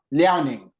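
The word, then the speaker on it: Liaoning: ishan biota but it's from Liao ning Province um okay how do you pronounce that learning yeah and then the specific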